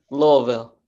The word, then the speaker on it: Louisville: we have with them the locals say Lille Louisville oh I know thank you for the correction Louisville I hope I get it right I believe that